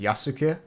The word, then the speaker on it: Yasuke: oh wait wait wait so the actual way to say his name is yasuke unless it would be